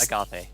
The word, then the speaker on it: Agathe: It's just Agathe. Agathe. It's like Agatha, but with a they at the end.